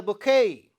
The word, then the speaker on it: bouquet: Similarly, in the word U letter is silent in the bouquet.